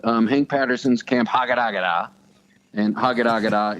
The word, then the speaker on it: Hagadagada: It's a 6-part web series called Hank Patterson's Camp Hagadagada, and Hagadagada is spelled like it sounds, and it sounds like it's spelled. Okay.